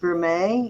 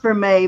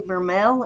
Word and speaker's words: vermeil: for mail it's actually spelled Vermeil that's how pronounced Vermeil you want to type that in for her um it's pronounced for May but it's spelled vermel b-e-r-m-e-i-l and if you're